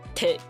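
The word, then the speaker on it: thịt: have a band my tits I'm like what they meant to say bun me tit which is like the Vietnamese Hoagie like a like a sandwich with meat because tit is meat like t-h-i-t so they're like can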